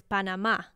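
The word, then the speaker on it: Panamá: the locals say Panama, because there's an accent over the last A of Panama. So it's not Panama, it's Panama. Like, you have to accent the last part of it, Panama.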